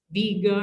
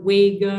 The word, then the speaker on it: Vega: hunted by hercules incidentally vega should be pronounced viega or vega or wiga or something i'll never get used to any of that its name comes from the arabic four of the swooping eagle of the desert vega is about three